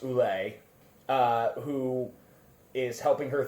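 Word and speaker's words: Ouelet: uh her designer Dr I believe that's pronounced ulle uh who is helping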